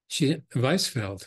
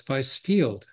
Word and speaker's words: Weisfeld: Okay, so it's Weisfeld, which she said it was Weissfield, because she assumes, you know, Jewish people, you know, like, are English.